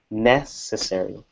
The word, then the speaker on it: necessary: one stress inside English for necessary it would be on the first syllable necessary necessary necessary that's where I would place it all right and pero